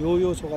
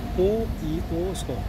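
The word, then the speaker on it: Yoyoso: 조지아는 요 발음이 없습니다. 요 발음이. 그래서 한국으로 하면 요요소가 되겠지만 조지아 말로는 이오이오소 이렇게 발음할 수 있습니다.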